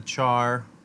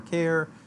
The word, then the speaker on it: char: store integers in the char type or care a car however you want to pronounce it type can store characters I usually call it a chart right to declare an